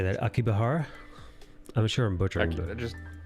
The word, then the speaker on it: Akihabara: Akibahara? I'm sure I'm butchering. Just Akiba for short. Aki. Otherwise, it's Akihabara.